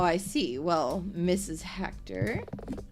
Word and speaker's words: Hector: Hector, your name rhymes with director.